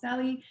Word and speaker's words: Seli: It's actually pronounced Seli, not Seli.